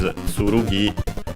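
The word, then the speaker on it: つるぎ: same kanji, which is tsurugi, accented, yes, accented on the last syllable, while ken is accented, so accented on the ke, ken.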